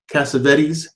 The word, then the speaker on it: Cassavetes: The Dirty Dozen came out in 1967, and it starred Lee Marvin, Ernest Borgnine, Charles Bronson, John Cavas, I always say his name wrong, Cassavetes, there we go, and Jim Brown.